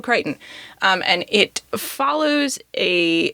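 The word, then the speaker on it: Crichton: a writer named Michael kryon which I don't think I knew how to pronounce his name until like maybe a month or so ago um but that is his name Michael kryon um and it follows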